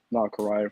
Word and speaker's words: Nakariah: My name is Nakariah for those of you who uh may have trouble pronouncing it.